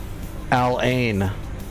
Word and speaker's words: Al Ain: Al Ain.